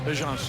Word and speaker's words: Ajinça: And I said, and he tells me today, it's Ajinça. And I said, not Ajinça. And his eyes light up and he says, that's how we pronounce it at home. That's really how you say it. So, folks, it's Ajinça.